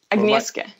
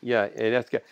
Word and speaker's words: Agnieszka: Pronounce her name. And by the way, Agnieszka. Agnieszka.